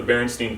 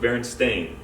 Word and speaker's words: Berenstain: of us remember the berenstein bears from you know elementary school and stuff like that but actually it's not the berenstain bears there's an a in the name so it's actually pronounced berenstain pikachu um actually does